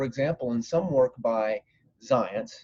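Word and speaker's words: Zajonc: in some work by science his name is spelled in a way that doesn't seem like it should be pronounced in science it's as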